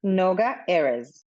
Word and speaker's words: Noga Erez: Anywho, so I really need to know before we do any of this, what is the proper pronunciation of your name? Noga Erez.